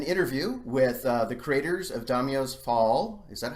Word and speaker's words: Daimyos Fall: here at an interview with the creators of Domino's Paul is that how it's pronounced right yeah yeah great which is a